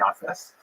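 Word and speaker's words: Japheth: Uh he has a son named Jaffit. In the Ashkanaz pronunciation that would be Yafis.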